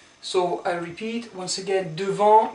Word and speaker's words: devant: So I repeat once again, devant, you don't pronounce the T here, devant, derrière, sous, sur, dans, contre, entre.